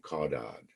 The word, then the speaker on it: caudad: They're pronounced cephalad and caudad.